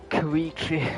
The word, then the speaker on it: Koichi: Koichi, that's it. That's how you pronounce it.